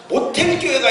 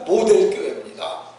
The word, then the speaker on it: 모델교회: 어떤 분들이 모델이라는 말을 잘 발음을 못하고 그게 모델인지 모텔인지를 잘 몰라가지고 모텔교회가 있다, 모텔교회가 있다 얘기를 하는데 그게 모텔이 아니고, 모텔은 숙박하는 데가 모텔이잖아요. 모텔교회가 아니고 모델교회입니다.